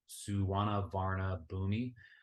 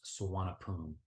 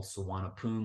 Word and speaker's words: Suvarnabhumi: likely pronounce it as suwana Varna boomi but actually to the Thai people it's pronounced swanapoon very simple suwana poon with the p not a b so it's going to